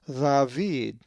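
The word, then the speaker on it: Δαυίδ: The accent is over the iota, a letter that looks like the English I, and which we will be going over later. So the Greek word is pronounced David.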